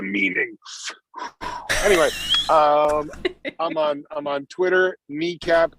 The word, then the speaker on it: Nekap: Anyway, I'm on Twitter, Kneecap, NEKAP, like the first 2 letters of and the first 3 letters of.